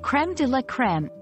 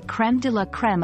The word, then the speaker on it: crème de la crème: peak of Excellence interestingly creme DEA creme is one of those phrases that has been borrowed directly from French into English retaining its original pronunciation iation and meaning this